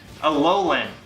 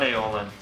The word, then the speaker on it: Alolan: Alolan, not Aeolin. Wow, Tim, I can't believe you pronounced that wrong.